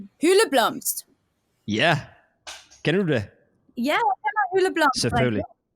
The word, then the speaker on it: Hyldeblomst: I thought it was Hundenberg. No. I love his pronunciation. Yeah, he's trying to say Hildeblomst. Hyldeblomst.